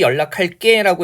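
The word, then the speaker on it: 연락할게: 때도요 이런 거 다시 연락할 게라고 해서 된 소리로 발음하지만 원래 형태는 예사 소리로 고정돼 있는 겁니다 아 그다음에 말 그대로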